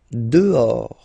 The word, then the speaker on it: dehors: Dehors. Okay, so remember final S not pronounced, and then this H in French doesn't exist phonetically, so you don't pronounce it.